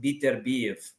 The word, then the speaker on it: Beterbiev: Or sorry, as my Russian friends told me, his name is pronounced Beterbiev.